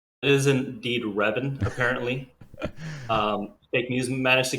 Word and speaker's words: Reven: How do you pronounce his name? It is indeed Reven, apparently. Fake news managed to get through all 25 permutations of his name before landing on the right one. But it is Reven.